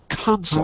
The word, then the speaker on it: consult: but as a noun as a noun M put the stress on the first syllable consultant consult period consult consult so the noun